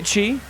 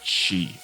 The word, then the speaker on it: Qi: name do you say Chi I think it's supposed I looked at what Qi is in China then I think it's pronounced she so i've been pronouncing